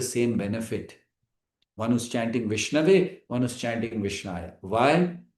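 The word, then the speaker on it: विष्णवे: But when it comes to Vishnu, we don't say Vishnaya, we say Vishnave.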